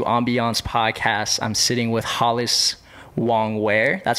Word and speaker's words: Hollis Wong-Wear: I'm sitting with Hollis Wong-Wear.